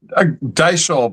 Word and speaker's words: Deishl: Deishl? Deishl, but I have two hard names to pronounce with a lot of extra vowels, so that's okay.